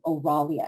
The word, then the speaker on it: Oralia: l-i-c-o-u-s by aurelia and my name is not difficult it's just like it you spell it just like you say it all the vowels are short except for the oh oralia and think of rah-rah the woman that is